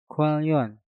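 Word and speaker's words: 관련: Untuk contoh yang ketiga, Kwalyon. Kwon diakhiri dengan nien, setelah itu diikuti kata yang diawali dengan real. Maka nien yang ada di kata kwon kita rubah menjadi real. Untuk cara pengucapannya menjadi Kwalyon.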